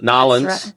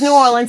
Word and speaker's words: New Orleans: Nobody from New Orleans says N'awlins. No, they don't. That's silly. Yeah, it's New Orleans.